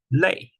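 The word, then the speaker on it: 泪: uh l l so the pronunciation is leay with falling tone so try to try not confused with Romania currency lay feels different even though I know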